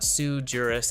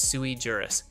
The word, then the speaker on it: sui juris: It's not suejurus, it's sui juris.